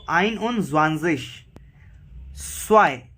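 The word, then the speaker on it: zwei: सो आइन उन ज़्वांज़िश, स्वाई, because Z है और प्रोनाउंसिएशन जेड, सॉरी जेड नहीं, जी है. जी की प्रोनाउंसिएशन स होती है, तो स्वाई.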